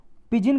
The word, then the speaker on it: pidgin: पिजिन का मतलब होता है, देखो इसमें डी साइलेंट है, PIDGIN।